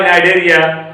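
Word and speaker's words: Cnidaria: बाद, वो आता है नाइडेरिया, जिसको हम नाइडेरिया या सिलेंट्रोटा बोलते हैं। तो नाइडेरिया शब्द जो है एरिस्टोटल का दिया हुआ है, अरस्तु का दिया हुआ है। नाइडेरिया स्पेलिंग देखिएगा CNIDA, CNI।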